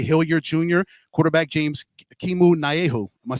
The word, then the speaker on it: Naehu: Arizona Wrangler, EJ Hilliard Jr., quarterback James Kimu Naehu. Am I saying it right? You did it. Naehu.